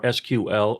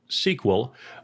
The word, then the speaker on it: SQL: The language is structured query language, or SQL, or SQL. All forms of pronunciation are correct.